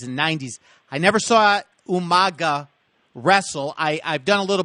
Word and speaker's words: Umaga: And so Umaga is the proper pronunciation. Umaga.